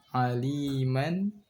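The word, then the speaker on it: عَلِيمًا: Itu dilepas saja. Sami'a. Alima. Dilepas, jangan ditahan.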